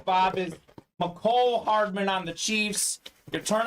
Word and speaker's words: Mecole Hardman: One of my favorite pronunciations, Bob, is McCole Hardman on the Chiefs. You turn on ESPN, they call him Mecole Hardman, but it is definitely McCole Hardman.